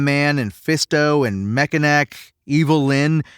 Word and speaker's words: Evil-Lyn: Ram Man and Fisto and Mekaneck, Evil-Lyn, whose name is just a phonetic way to pronounce Evelyn, they're all, quite frankly, pretty dumb, He-Man included.